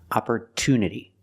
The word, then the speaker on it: opportunity: nature and natural but in the word opportunity the stress is after the T there's a stress after the T for this reason we cannot pronounce it CH we pronounce it with a clear T sound opport Unity the stress